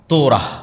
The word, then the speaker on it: তোরাহ: তোরাহ বলে ইহুদিরা উচ্চারণ করে যে তোরা যখন তাওরাত দেওয়া হলো।